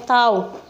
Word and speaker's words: tau: Ini bacanya tau.